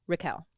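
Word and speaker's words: Riquel: can use my name it's pronounced like raquel but with an i instead of an a so raquel love you girls and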